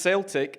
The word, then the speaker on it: Celtic: So It's pronounced Celtic, and don't say that again in my company.